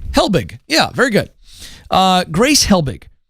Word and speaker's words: Helbig: It's Helbig. It's Helbig. Helbig.